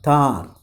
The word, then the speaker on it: tahr: A young Thar, T-A-H-R, Thar. It is pronounced as Thars, wound and dressed it with leaves.